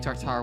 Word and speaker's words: tartare: I had a delicious steak tartare once at an incredibly fancy restaurant.